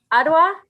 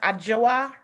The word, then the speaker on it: Adjoa: You have a right to an attorney, and your attorney, is it Miss Adwa? Yes, Your Honor. Is that how it's pronounced? It's pronounced Adjoa.